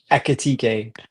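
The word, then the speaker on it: Ekitike: Akitike.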